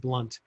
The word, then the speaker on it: Blount: name is jeb blount it's actually pronounced blunt j-e-b here i don't